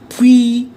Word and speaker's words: puis: Puis, UI is V, puis, S is silent.